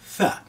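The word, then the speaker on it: ث: That's letter Tha. Now, pronunciation of this letter is very important. Don't call it a Sa, it's a the tongue trap, and then you expelling the air very gently.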